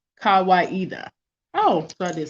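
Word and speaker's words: Kawaida: kawaiida a swahili word meaning tradition or reason pronounced kawaiida oh so i didn't say it right okay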